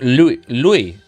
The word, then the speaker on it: Louis: Louis is like you say without the S. Oh wait, like Lewis Hamilton. So just Louis.